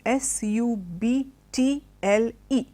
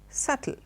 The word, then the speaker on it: subtle: in the word is s ub t l e now the B being there most of us pronounce it has subtly remember the B is silent and the word is subtle lovely word subtle now